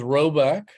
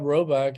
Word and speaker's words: Rhoback: The company is Roback. You may not have heard about it. It's I think they're relatively new. It's spelled RHOBACK.